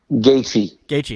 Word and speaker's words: Gaethje: It was weird because I don't know how do you pronounce Gaethje's? Is it Gaethje? Gaethje.